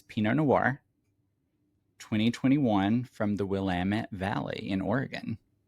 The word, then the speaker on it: Willamette: a Colleen Clemens Pino Noir 2021 from the Willamit Valley in Oregon. In case you didn't know, it is pronounced Wamut rhymes with Damitut. Wamut.